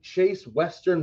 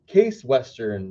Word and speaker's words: Case Western: has entered the fight chase western is a private research university in cleveland at ohio case i have been saying it wrong it's all good case western reserve was established in